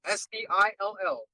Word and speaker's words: still: Still, S-T-I-L-L. Move on. Still? Okay, still is pronounced with a S-T-I-L-L, not S-I-L-L.